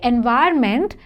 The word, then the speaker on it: environment: r n m n generally this N is a silent n we don't say this n but in the spelling you have to write so you will say environment but there is an